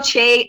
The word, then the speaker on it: Che: Chi? Is it Chi or Just Chi? cause he Michael retweeted Che? a joke. Michael It's Che.